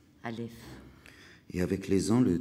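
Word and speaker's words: א: l'alphabet la lettre A cette lettre en hébreu n'est pas prononcée on dit seulement qu'elle est aspirée qu'elle est souffle cette lettre est silence Alf et avec les ans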